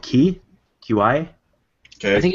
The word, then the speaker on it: Qi: I'm going to pronounce it wrong. I think it's called QI. Okay. I think it's Qi.